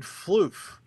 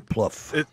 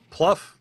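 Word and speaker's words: Plouffe: days yeah like it was promised um David flof is that how you pronounce the name Pluff Pluff yeah all right whatever and it's the same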